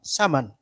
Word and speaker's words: Saman: So, how do you pronounce it? Saman or Saman? Saman.